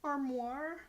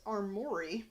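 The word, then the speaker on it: armoire: space suit meaning mors he pronounces armoir which I know I never quite pronounced right as armori and I assume that's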